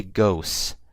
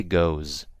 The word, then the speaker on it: goes: you guys see um I'm pronouncing it now with an S but with a Z so I didn't say ghosts I say goes I don't say thus I say does okay makes a world